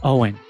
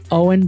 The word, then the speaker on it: OWYN: That's why my go-to protein shake is Owen.